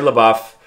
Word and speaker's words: LaBeouf: 185 i say his last name wrong all the time but i said it right this time uh looks french to me but we say la buff um infielder from bishop